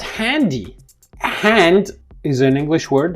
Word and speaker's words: Handy: So the word cell phone or mobile phone in German is called handy. Hand is an English word, Y-E, in the pronounced as E, like IC, is an English suffix, and they have been put together.